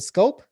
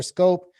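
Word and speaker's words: Schoop: is Ryan Mountcastle and Jonathan, what is it, Scope? Jonathan Did I say it right? Scope.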